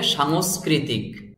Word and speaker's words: সাংস্কৃতিক: শিক্ষার্থীকে দেশের অর্থনৈতিক, সামাজিক, সাংস্কৃতিক, শব্দটির সঠিক উচ্চারণ হবে সাংস্কৃতিক। এই দন্তস্ব আকার অনেশ্বর আর এ পাশের দন্তস্ব একসাথে বলতে হবে সাংস, সাংস। তারপরে কৈরি ক্রি, কৈরি ক্রি, তৈরশিকারে তি ক, ত্রিতিক, সাংস্কৃতিক।